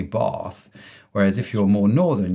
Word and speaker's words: Bath: There is a split in the UK. There's a North Divide split on how you pronounce certain words, Bath being one of them, which is a beautiful town in the UK. And if you're from the south or more southern, you tend to say Bath, whereas if you're more